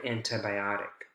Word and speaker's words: antibiotic: do realistic academic antibiotic antibiotic how one's a tricky one because you have a lot of stressed syllables a lot of secondary stress in this word antibiotic all right here we